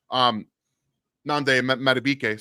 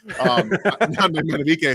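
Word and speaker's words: Nnamdi Madubuike: You have Nande Madubuike, sorry, he changed his name this year, so I had to make sure I say it right. Nande Madubuike, who can disrupt a lot of things inside,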